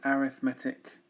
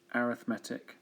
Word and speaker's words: arithmetic: five terms of an arithmetic just think arithmetic but it's called It's pronounced arithmetic sequence which means you've got